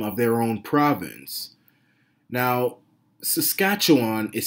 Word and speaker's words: Saskatchewan: So here we have the new Democratic Party of Saskatchewan, and they don't even bother to spell check the name of their own province. Now, Saskatchewan is spelled Saskatchewan. Sass, cat, chew, on.